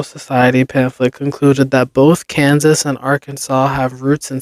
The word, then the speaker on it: Kansas: similar Indian tribal names, but that Kansas chose to follow the standard English pronunciation marked by a hard A sound in can and vocalizing the final S, while Arkansas stuck with the original French pronunciation. It's the long French and Italian ah sound, wrote the Arkansas Historical Society, which explains why Arkansas was sometimes spelled Arkansaw, including in the 1818